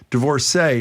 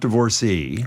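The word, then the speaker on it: divorcée: She is saying, Marjorie, divorcee is pronounced divorcee, not divorcee.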